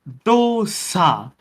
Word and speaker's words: dosa: Pronounced dosa. There is no hard D, there is no hard yes. It's just dosa.